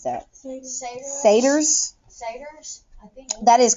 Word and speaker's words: satyrs: The arts and crafts room, where how do we pronounce that? Satyrs? Satyrs, I think.